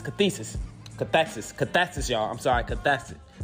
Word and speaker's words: cathexis: word of the week is cesis cesis cesis cathexis cesis cathexis cathexis y'all I'm sorry cathes cesis cesis is spelled c a t h e x i